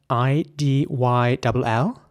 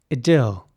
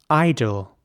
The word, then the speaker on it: idyll: this would be pronounced idyll with an E sound, idyll. And in American English, it would be more like idol, where the I at the beginning is actually pronounced like an I, so idol.